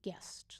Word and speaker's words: Guest: up edgar albert guessed the last name is guest g u e essence AM T as in Tom look up Edie Edgar out what's with my words today a Edgar Edgar Albert guest look him up on YouTube he has a